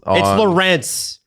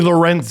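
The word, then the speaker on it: Lorentz: It's Lawrence. Enough. So it's both because Mark Masters they have a thing on TSN about how to say the name. It's actually Lorenz.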